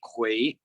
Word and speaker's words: 魁: So for example, the song Farewell, that character, which is pronounced Kui, is like is basically just like some kind of mythological monster or like a mythological something.